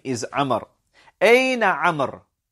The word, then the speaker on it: عمر: أين عمر? This is how we pronounce that name. It is عمر. عمر. Right? We have the wow to show us that it is not عمر.